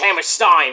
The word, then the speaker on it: Hammerstein: Well, it's pronounced Hammerstein, but it's HAMMERSTEEN because Kevin Steen built that motherfucker in 2011.